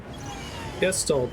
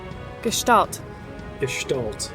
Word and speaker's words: gestalt: i don't know yeah guest old mood i haven't actually said that gestalt okay that comes up